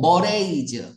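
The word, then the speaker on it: mores: 걸 포기한 대요 뭐 머레이즈 아이 단어 꼭 알아두세요 머레이즈 머레이즈 머레이즈 발음이 머레 이즈야 어 관습 풍습 이런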